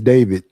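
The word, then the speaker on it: d4vd: somebody even though his name is spelled D4 VD is David? Yes. David.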